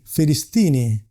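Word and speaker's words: فلسطيني: As you can see, the pronunciation is fee Filistini because in Arab alphabet, they don't have the letter P.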